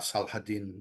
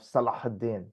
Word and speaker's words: Salahuddin: When they do unify under the Ottoman Empire or under Saladin beforehand, they're pretty hard to beat. But you have a great pronunciation of Salahuddin.